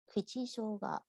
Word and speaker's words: kuchi shoga: Kuchi shoga, kuchi shoga.